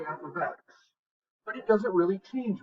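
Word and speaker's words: f(x): Okay, so before we start this, actually, this guy is pronounced f of x. It means function of x.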